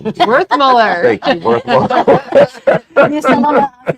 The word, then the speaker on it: Werthmuller: Werthmuller.